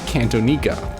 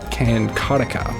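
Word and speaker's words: Cantonica: next we're getting canaa not Cantona canatica as I believe how you pronounce it but is a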